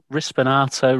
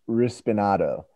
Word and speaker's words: rispinato: But if you're from New York, though, you might just say rispinat, because you don't pronounce the, let me get some mutts.